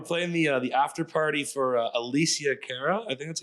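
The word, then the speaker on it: Alessia Cara: We're playing the after party for Alicia Cara.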